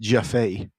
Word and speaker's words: Jaffe: All right, so we covered this last podcast, but it's pronounced Jaffe.